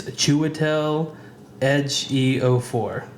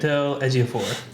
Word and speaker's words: Chiwetel Ejiofor: I found a pronunciation. It's Chiwetel Ejiofor. Right, you nailed it. Chiwetel Ejiofor.